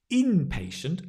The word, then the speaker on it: inpatient: inpatient and the outpatient inpatient Accent on the in an inpatient is a